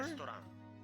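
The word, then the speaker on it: レストラン: It's like restaurant, but without the T and the ch sound. Restaurant. Yeah, it's a toe instead of a ch.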